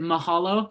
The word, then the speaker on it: mahalo: Well, if I'm not saying it wrong, is it mahalo?